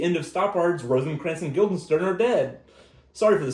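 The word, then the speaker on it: Guildenstern: Rosen Crans and Gilderstein who are dead. I might have pronounced it a little bad. I'm sorry. It's Gilden Stern, but that's fine.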